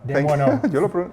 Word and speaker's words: Desmoineaux: I've got Hi, Desmoineaux. Desmoineaux. Desmoineaux. You pronounce it really well.